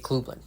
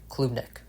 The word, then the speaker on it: Klubnik: college football history in Trevor Lawrence to Cade Klubnik. Can't even pronounce his name right. Klubnik.